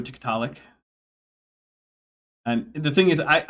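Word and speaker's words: TikTok: Um or as Andrew Zelling would have it, Titilac, which is an interesting pronunciation for Tik Tok.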